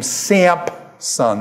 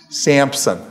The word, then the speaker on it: Samson: Actually, what you're doing is you're using the Greek pronunciation of this. The Greek has a P in it, and it's come over